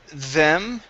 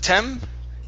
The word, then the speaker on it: them: Let's go to the word them right here instead of tem. Okay. This is a th sound. Them. Tend. Yeah. So your tongue is between your teeth for that th. Okay.